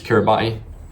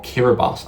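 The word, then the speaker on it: Kiribati: This is Kiraabati or Kiraabas. I believe that's how you pronounce it. Even though it's got a T in it.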